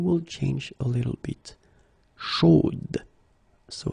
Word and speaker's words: chaude: Chaude. So here you pronounce the final D, whereas in the masculine form you don't pronounce it.